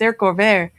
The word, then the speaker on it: haricots verts: I said, "It's haricots verts.